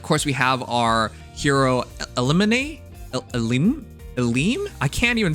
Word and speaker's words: Elimine: pronounced Elimine.